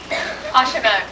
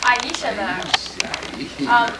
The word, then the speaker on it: Aishimo: Ashimo, is that the correct pronunciation? Aishimo.